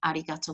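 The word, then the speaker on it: ありがとう: be rude but to make it more polite arigatou gozaimasu do you want to try it just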